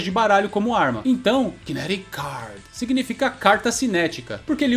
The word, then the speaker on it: kinetic card: E aqui ele fala kinetic card. Kinetic card. Só que como essa palavra kinetic termina com C e a palavra card também começa com C, a gente emenda a pronúncia e é como se tivesse só uma letra C aqui.